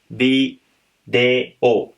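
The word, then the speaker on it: ビデオ: Video game, English में हम बोलते हैं वीडियो गेम, और उसको जापानीज़ में हम, क्योंकि जापानीज़ के अंदर वी की प्रोनाउंसिएशन नहीं है, तो हम उसको बोलते हैं बी दे ओ।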